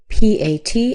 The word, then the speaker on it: Pat: And then finally, we have P A T. And just like these other words that have an A, we're going to use an A. So this name is Pat. Pat.